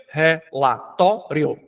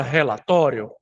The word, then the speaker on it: relatório: A palavra relatório é uma palavra em que a sílaba mais forte é a sílaba tó. Por que que é a sílaba tó? Porque quando eu vendo, olha o relata, tóri, aí eu tenho a sílaba tônica to.